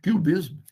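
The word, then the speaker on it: QBism: Mas a própria denominação dessa interpretação, cubismo, em inglês, a pronúncia é exatamente a mesma do cubismo, do Pablo Picasso, do Juan Gris, George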